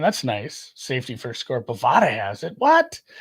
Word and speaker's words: Bovada: Bovada has it. What? It's Bovada actually because it's pronounced Nevada.